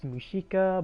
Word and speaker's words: Mushika: Comm preparations for from the Wiki page is pronounced mushika but it writes Musa well that's a weird